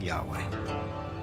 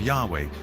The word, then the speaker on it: Yahweh: and his name was these four letters which in English would be yhwh which we think were probably pronounced something like Yahweh but Yahweh only appears